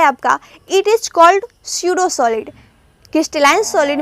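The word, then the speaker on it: pseudo: स्यूडो को ऐसे लिखते हैं पी साइलेंट होता है यहाँ पे।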